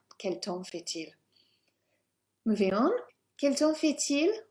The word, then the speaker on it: quel temps fait-il: And we start with, quel temps fait-il? Quel temps fait-il? We start with the pronunciation, so don't pronounce the PS. Yes, it looks like temps, but hey. And we will pronounce the T.